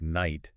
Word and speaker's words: night: It's like a word like night. Yeah. Your sources mentioned that in Old English, both the K and the G were actually pronounced. Oh, wow. And it sounded something like K-nicht.